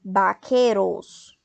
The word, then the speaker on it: vaqueros: Se o V tem som de B, nós vamos falar vaqueiros.